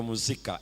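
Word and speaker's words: musica: lakini walatini kwa kitaliano wao wakatumia muzika na unajua inatamkwa hivyo vya muzika M U S I alafu C sio K ni C alafu Amazika kilatini lugha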